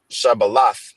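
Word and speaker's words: שבלת: the Hebrew okay uh which is uh shabal okay that's the correct pronunciation Strong's h 7641 shabala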